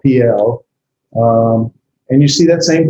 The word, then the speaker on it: Piel: It's called the PL because notice the first vowel is the herrick, I sound, and the second is a cetera, sort of a long E cell, PL.